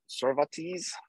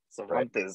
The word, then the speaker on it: Cervantes: yes a quick comment pronounce these names like they're japanese they're phonetic cervantes oh okay there you